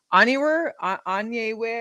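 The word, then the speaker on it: Onyenwere: You've also got Michaela Onyewer. I can't even know how to pronounce her last name. I'm sorry. From Liberty. No. Onyewer.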